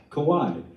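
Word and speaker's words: Kawai: you pronounce it kauai kawhi kind of like the island a little bit yeah cool yeah all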